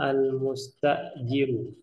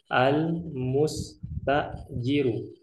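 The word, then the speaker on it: المستأجر: Nah, di sini kita ada dialog antara al-mustajiru. Cara bacanya perhatikan. Al-mustajiru. Yang satunya al-muajjiru. Bisa dibedakan ya. Al-mustajiru dengan al-muajjiru.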